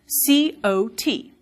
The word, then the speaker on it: cot: One is spelled C-O-T, and the other is spelled C-A-U-G-H-T. I say these differently. Cot, caught. But many speakers in the US say them the same way, that they say caught, caught.